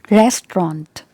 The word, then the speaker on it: restaurant: this word is restaurant restaurant restaurant got it restaurant so here the stress is given on the first syllable and this is trend